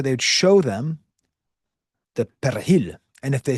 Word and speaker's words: perejil: You got to get that persil, but in Spanish, it's perejil, perejil. Tell me in the comments if I'm pronouncing that correctly. I've taken a few years of Spanish, but it's a perejil. It's got that in there. Do you hear that?